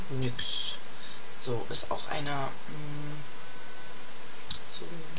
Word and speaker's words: NYX: Also davor habe ich es immer NYX ausgesprochen, aber mittlerweile weiß ich, dass es total falsch ist, sondern die heißen NYX.